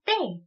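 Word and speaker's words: te: 그 다음은 떼. 떼. 네, 태가 아니라 때이기 때문에 된소리로 발음을 해주셔야 되겠습니다.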